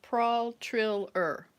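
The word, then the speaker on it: Pralltriller: l l t r i t-r-i-l-l-e-all e-r it's pronounced pral trill er you're the sweetheart sending me cards how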